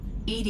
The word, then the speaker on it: EDI: behind the medical Bay why are you named Ed Ed is the phonetic pronunciation of Ed d i that is an